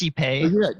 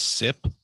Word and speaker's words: Sipe: i get it right it's cpa no it is type i think i used to pronounce it cpe um i still will it's sip the eos i don't